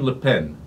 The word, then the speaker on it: Le Pen: over comments made by Marine Leen I give you a little French pronunciation there she's the daughter